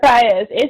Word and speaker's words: Faiyaz: Yeah, Brent Faiyaz.